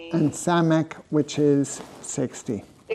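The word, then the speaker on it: סמך: 50 and samk which is 60 60. So samk sounds like 60. Yeah it begins with an s.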